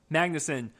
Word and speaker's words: Magnuson: Joel, how do you pronounce his name? Billy Magnuson? Magnuson.